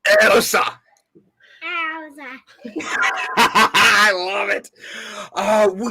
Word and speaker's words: Ilse: Ilse. Oh, my. Try saying it. Ready? Say, Ilse.